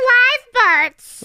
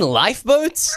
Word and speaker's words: lifeboats: Live boats? Wait, do you mean lifeboats? Oh, is that how you say it? Yeah, Milo, they're not live boats. That would mean the boats are alive. They're lifeboats because they can save your life.